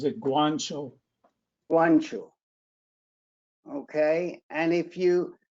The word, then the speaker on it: Guanciale: you spell her name uh g-u-a-n-c-i-a-l she actually pronounces it guancho ancho okay and if you oh this is